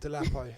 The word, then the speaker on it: Dolapo: Am I saying it right? No, Dolapo. you are. Actually, do you know what? You're probably one of the first few people that's like said